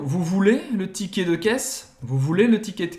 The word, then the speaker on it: caisse: Caisse, de novo, o E no final a gente não vai pronunciar. A pronúncia termina no S. Caisse. Caisse. E lembrando que o AI tem som de E em francês.